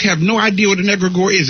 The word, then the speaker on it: egregore: There's a thing called an egregore. Now, most of our folk have no idea what an egregore is. It's spelled E-G-R-E-G-O-R-E.